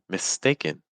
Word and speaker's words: mistaken: word here mistaken mistaken do you hear the the in sound at the end in mistaken in mistaken it's like we have a couple vows here like I a the stress is on a that's going to be a little bit longer and higher in Pitch everything else is going to be lower in pitch and faster mistaken mistaken mistaken mistaken